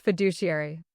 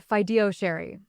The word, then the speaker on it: fiduciary: He mispronounced fiduciary. Not once, consistently. He said fidoshiary like it was a dessert.